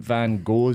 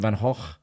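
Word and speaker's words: Van Gogh: think is it yeah cuz Vincent Van go we is actually Vincent Van H there's no G it's just just yeah yeah you don't pronounce it oh well I call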